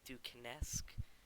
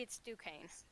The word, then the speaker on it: Duquesne: I thought it was like Duquesne-esque. I have no idea. how to No, say it. it's Duquesne. I Hey, know that.